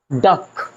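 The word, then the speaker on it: duck: जैसे सुनिए डक डी यू सी के डक means बतख लक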